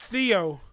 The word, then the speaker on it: Theo: Oh, and my name is pronounced Theo, like Ronnie James Dio.